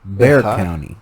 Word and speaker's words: Bexar: um became pronounced bear not many people know this but it's not bexar county it's bear county where is this san